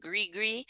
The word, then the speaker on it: gris-gris: Is that how I pronounce it? Gris-gris?